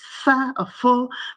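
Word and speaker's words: phở: I don't pronounce it correctly. It's pho, but it was absolutely delicious.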